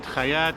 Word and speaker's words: Chait: It's pronounced Chait? Chait, Chayat, Americans say Chait, whatever.